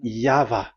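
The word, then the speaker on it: Yahweh: The original one is V and there is no more explanation but that is the phonms the pronunciation pronunciation is equal V. It is V. Y H VH. So it is Yava.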